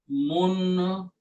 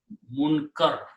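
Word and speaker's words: مُنْكَر: Anil Munkiri. Actually, Munkar, not Munkir.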